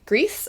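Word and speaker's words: Gris: uh almost ethereal and that would be grease I believe is how it's pronounced it's spelled g r i s and we played it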